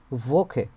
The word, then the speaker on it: Woche: এগুলোর সাথে সম্পর্কিত দিখে ভোখে। এই যে ডাব এর উচ্চারণ হচ্ছে ভি এর মত হয়।